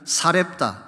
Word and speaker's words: 사렙다: 오직 시돈 땅에 있는 사렙다, 이 사렙다라고 하는 것은 사르밧의 헬라식 발음입니다.